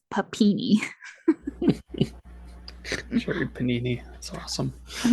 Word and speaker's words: Papini: goes on to say her name is Sherry Panini then you hear her correct him and he says papini sure Panini that's awesome